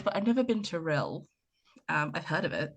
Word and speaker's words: Rhyl: Yes, that's how you say it. Cuz I can see you staring at the word saying, "How do I say that?" Rhyl. Rhyl. Rhyl, like thrill but without the th.